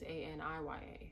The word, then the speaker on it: Aniya: It's Anya, but my name is Aniya, so without the I, which could mean its own thing too, you know.